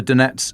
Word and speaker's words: Donets: and thank you for reminding me how to pronounce it properly Daniel the Donets Dipropatross Oblast border just northwest of the village of Nuva Crraanka on the T0428 road.